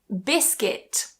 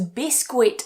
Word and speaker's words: biscuit: For example, biscuit. So I hear this pronounced as biscuit a lot, but remove that u.